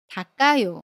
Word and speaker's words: 닦아요: the final consonant ‘ㄲ.’ ‘ㄲ’ is pronounced as the same ‘ㄲ’ not [ㄱ]. For example, '창문을 닦아요.' (I wipe the window.) How would you pronounce it? You should pronounce it as .